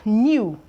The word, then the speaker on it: know: So we have new. You can see that this word begins with K, but right now the K is actually silent.